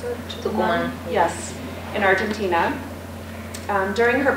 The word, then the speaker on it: Tucumán: Is that how you pronounce it? Tucumán.